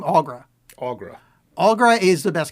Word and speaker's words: Aughra: Aughra.